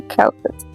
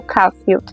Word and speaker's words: Caulfield: Nesse livro, a gente vai acompanhar a história de Holden Caulfield, ou Caulfield. Eu já vi duas pronúncias diferentes com o mesmo sobrenome, então eu gostei de trazer os dois para vocês saberem.